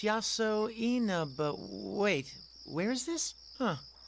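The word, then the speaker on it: Yasoinaba: How am I supposed to pronounce that? Oh, it's written out beneath the kanji. Oh, it's Yaso Inaba.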